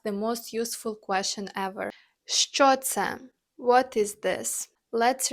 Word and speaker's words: що: Let's nail the pronunciation because it can be a little tricky for English speakers. The Ukrainian letter sh makes two sounds, sh and ch. Listen again. Що?